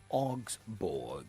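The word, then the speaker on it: Augsburg: Augsborg. Augsborg is a German Bundesliga side. It's spelled A U G S B U R G. That's a spelling of Osborg.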